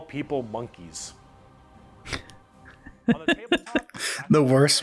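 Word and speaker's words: Mon'keigh: Why is it called Monkai? Well, it's because you can't, in your game, call people monkeys. On the tabletop, the worst part is the correct pronunciation is monkey.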